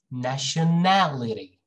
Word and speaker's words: nationality: just say nation nation look at the next one nationality nationality okay nationality this syllable right here and then this one